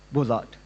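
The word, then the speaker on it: Beaux-Arts: from Ecole National Superieure du, how do you pronounce the Beaux Arts? Beaux Arts, Paris.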